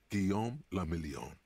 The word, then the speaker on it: Guillaume le Million: Guillaume le Million. William the Million. If it doesn't rhyme, you're not pronouncing it right.